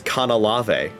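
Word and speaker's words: Canalave: Motherfuckers, I pronounce it as Kanalave.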